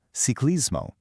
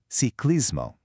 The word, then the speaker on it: ciclismo: It's ciclismo. You really want to notice that C sound at the beginning. It's soft, like the C in celery. C- ciclismo.